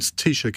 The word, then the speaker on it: Taoiseach: And Taoiseach is spelled Taoiseach.